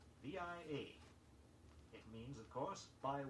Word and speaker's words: via: Two Latin expressions now which are pronounced in the English manner. The first is via, V-I-A.